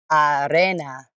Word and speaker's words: arena: of AA yep repeat Arena Arena Arena sand yes sand the E sounds like an a I guess and the i s sounds like an e we say Arena Arena